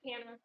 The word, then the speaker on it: Hannah: Or how you pronounce her name? Good to meet you. Hannah? That's correct. It's Hannah.